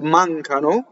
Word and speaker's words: mancano: Mancano is the real word, and they chop off the O for the poetry. The word A is what is known as a strong monosyllable, and it slightly doubles the next word if it starts with a consonant.